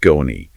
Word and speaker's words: Scone: That's Scone, pronounced Skone.